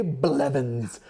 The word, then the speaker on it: Blevins: It sounds as it's spelled, it just sounded like but it's just one of those consonant sounds. A setup if you wanted me to mispronounce it. Okay, Ray Blevins equals legend. I feel like you should hit the blah a little harder.